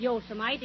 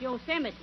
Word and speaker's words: Yosemite: It isn't Yosemite, it's Yosemite.